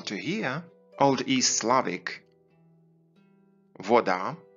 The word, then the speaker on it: вода: hear old east slavic voda which can also be pronounced with the english w at the beginning and all church slavonic